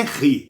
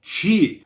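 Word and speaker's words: χ: Com som aspirado. Ou seja, não é ri, é chi, porque é um som que bate na garganta e você expele o ar.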